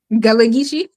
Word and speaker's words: Gullah Geechee: How you pronounce that? Gullah? Gullah Geechee.